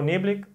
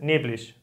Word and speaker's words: neblig: En algunas regiones también la gente dice, no dice neblig, yo digo neblig, dicen neblig, ¿no? A veces IG se pronuncia como sh, ¿no?